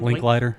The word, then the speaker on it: Linklater: Linklater. Linklater. I cannot Linklater? believe It's it's all he done. I like that know. movie. Dude. I think that's the only Richard Linklater movie I like.